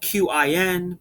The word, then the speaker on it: Qin: Okay, Qin is spelled Qin, but the Q makes a CH sound, so it's the Qin Dynasty.